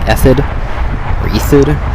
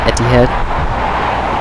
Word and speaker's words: Etihad: weirdly and sounds weird I just learned actually how to say I almost thought it was like ethid friends called Etihad it's a middle eastern uh